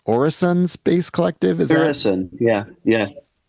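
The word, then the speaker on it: Øresund: know, explorational group and you're doing is it pronounced Orrison Space Collective.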